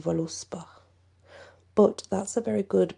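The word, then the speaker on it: Völuspá: as a v however i always learnt it as the v was pronounced like a w so it would be to me even though it says voluspa but that's a very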